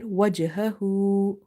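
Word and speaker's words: وَجْهَهُ: So right now we have a weak qalqala here. Wajhahu, wajhahu bounces there, but very, you can't feel it much.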